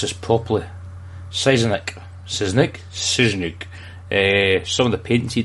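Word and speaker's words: Sienkiewicz: Let me pronounce this properly. Siznik.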